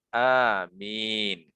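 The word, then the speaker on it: آمين: Yang pertama adalah dibaca seperti lafaz Yasin. Ya, berarti wazannya fa'il, gitu ya. Yasin berarti bacanya amin.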